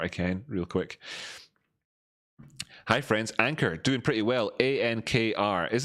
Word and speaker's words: Ankr: Hi friends, Ankr, doing pretty well, A-N-K-R. Is this actually pronounced Ankr? Yeah, Ankr, it's pronounced Ankr.